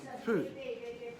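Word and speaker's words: 福: this character throughout the compound it is the syllable Fu F uh and it means blessing or happiness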